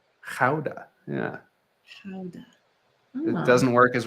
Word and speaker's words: Gouda: it like a nice gouda maybe a smoker I just learned the other day as as with so many Dutch things I'm probably gonna butcher it but it's supposed to be pronounced houda yeah it doesn't work